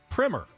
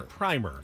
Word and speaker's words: primer: writing about the offseason, it is pronounced primer. If you have the first coat of paint on a house, that's the primer. All right. But a text, like a textbook or a writing on a subject, that is pronounced primer. And that's American English.